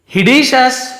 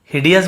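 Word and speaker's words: hideous: हिडियस बोला ना मैं कि हिडिशस बोल दिया, हिडियस लिखा हुआ है, हिडियस है ना, मैंने शायद हिडियस इसे देख के बोल दिया, हिडियस पढ़ेंगे, हिडियस यानी भद्दा भयंकर,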